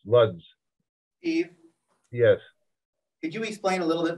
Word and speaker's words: Łódź: That's how it's pronounced, Lodz.